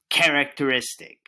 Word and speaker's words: characteristic: Our focus word this week is characteristic. Can you say characteristic? You sound great. Now, how many syllables do you hear in the word characteristic? Characteristic. That's right. 5 syllables.